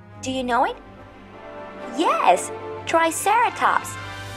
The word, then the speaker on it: triceratops: you know it yes triceratops repeat with me try sarah tops triceratops this dinosaur is a large